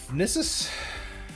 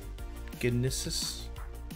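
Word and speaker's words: Gnisis: We're in the town of Nissus. I think that's how it's pronounced. Gnissus? I think the G is silent.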